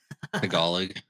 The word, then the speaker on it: Tagalog: Tagalog, by the way, is how you say that.